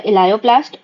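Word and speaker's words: elaioplast: Then हमारे पास आता है इलायोप्लास्ट, ऑयल and fats, oil और फैट्स। तो ऑयल जो हमारे पास आता है उसका प्रोनाउंसिएशन इलायो जैसा होता है, तो इसलिए इलायोप्लास्ट।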